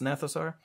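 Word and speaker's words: Gnathosaur: The Gnathosar, you know, the G is silent, so it's Gnathosar.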